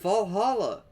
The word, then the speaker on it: VA-11 Hall-A: The name sounds silly and a bit hard to pronounce. VA-11 Hall-A. Good thing it's actually called Valhalla.